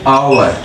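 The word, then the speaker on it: hour: लेकिन दूसरी जगह पे आ जाए एन आवर, अच्छा एच यहाँ भी गया है, यहाँ पे तो एच साइलेंट आ रहा है, यानी एच का तो शुरू, ये तो शुरू भले ही कॉन्सोनेंट से हुआ है लेकिन साउंड हमें वावल का दे रहा है।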